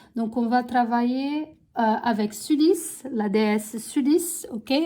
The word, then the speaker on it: Sulis: Donc, on va travailler avec Sulis, la déesse Sulis, ok? Ou Sully, ça dépend comment vous prononcez, mais en tout cas, on va travailler avec cette déesse pour cette lunaison.